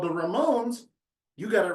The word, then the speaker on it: Ramone: e on my certificate there's no e on my name but if you pronounce it Like a Rock grp From New York from the 70s called The Ramones you got it right